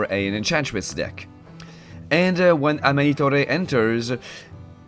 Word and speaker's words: Amanitore: And when Amanitore enters... Did I say Amanitore? She's not Italian. Amanitor.